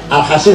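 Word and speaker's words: الحصين: Al-Hasin sod bukan sin. Kalau sin Al-Husain, kalau sod Al-Hasin bacanya. Dua anak gak mau masuk Islam, dirayu, dikandani, dinasihatin, gak masuk Islam.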